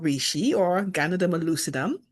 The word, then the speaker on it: Ganoderma: And I now know the name, which is called reishi or Ganoderma lucidum. In the beginning, I said gamma derma.